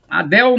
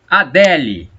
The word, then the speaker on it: Adele: mulher famosa cantora adele tem gente falar dell a dell não concordo com essa pronúncia não olha que eu estudei inglês a gente mais falar del parece que você tá falando nome de um homem adele eu vou falar